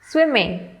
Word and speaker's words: swimming: Swimming. There are 2 syllables and the stress is on the first syllable, swimming.